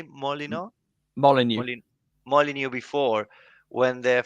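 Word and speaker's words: Molineux: Molyneux.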